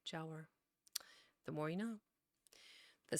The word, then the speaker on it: Giaour: How to say it correctly. Jower. A non-Muslim, apparently. Jower.